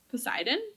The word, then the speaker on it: Poseidon: Wait, did I say that weird? Poseidon? Yeah, okay, right. I said it right.